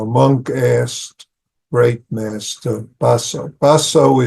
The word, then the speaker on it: Baso: Baso is Japanese way of explain uh pronouncing his name. In Chinese it's matsu. Ma ba means horse. Sue is ancestor. So ma is his family name and it's be become is dharm apart